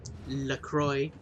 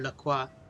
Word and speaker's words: LaCroix: want that fizziness yeah I've tried doing Lucroy or Lacroix depending on how you want to pronounce it which are bad sometimes